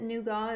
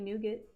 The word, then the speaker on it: nougat: it wrong not that not that nuga is wrong because it's supposed to be nougat oh same inflection okay